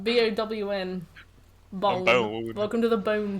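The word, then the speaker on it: Bown: Bone. Bone. Welcome to the Bone Town. Spelt the same, but pronounced differently.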